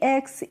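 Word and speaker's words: axe: तो इसको हम एक्स एस एंकले एंकले इस तरीके से नहीं पढ़ते हैं। क्या पढ़ते हैं? एक्स एस। यानी कि जो लास्ट में इ होती है, इसका कोई मतलब ही नहीं होता है। इसको हम साइलेंट रखते हैं। इसका हम प्रोनाउंसिएशन नहीं करते हैं।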